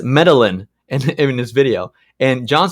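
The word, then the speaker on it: Medellín: Isn't the double L pronounced as a Y?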